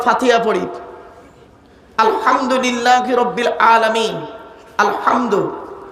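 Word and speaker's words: الحمد: আলহামদু, এ গলার ভেতর থেকে হে এটা উচ্চারণ করবেন, আলহামদু।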